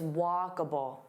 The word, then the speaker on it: walkable: So here there are three sounds. Walkabable. So notice that uh and then bull. It's not able, it's walkable.